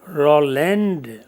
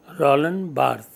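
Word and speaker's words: Roland Barthes: So among these the first one would come Roland Bart. B A R T H E S. In French the last syllable remains silent in speech.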